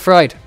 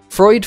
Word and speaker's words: Freud: We'll go with Freud then. I'm kind of going for like Noid. Like annoyed. And then Freud. With that OI. Nice. Oh, what? Real massive wiggly strafe there. Freud from Warsaw.